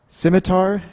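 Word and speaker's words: scimitar: and they've recently introduced I believe this is pronounced simitar winglets s c i m i t a r um it's technical term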